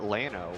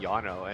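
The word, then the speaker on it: Llano: liveed there and everybody just called it Lano with hard elves like English would and uh people would say why do you call it Lano when it should be Yano and the response is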